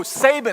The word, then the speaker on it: Saban: It's Saban. Oh, Saban. That's the correct pronunciation.